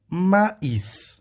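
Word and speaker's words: maïs: Agora a quarta palavra é maíz. Nesse caso eu vou pronunciar o S porque as línguas irmãs do francês também pronunciam esse S, entendeu?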